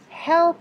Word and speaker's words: help: Because he couldn't help it. Help, that's a content word. That's a verb. So you have to pronounce the H in that one.